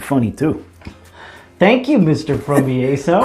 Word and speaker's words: Fromiaso: Hello, Mr. From My Asshole. It's Fromiaso. What? Fromiaso. That's how you say my name.